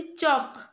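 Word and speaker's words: chalk: तापर अछि चक, चक एल टा उच्चारण होची की? एल टा साइलेंट ही जाउची, तो एल हे जिवो तार राइट आंसर।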